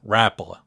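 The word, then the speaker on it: Rapala: one is your floating rapola notice I said Rapa that's how it's spelled that's how it's said the floating Rapa is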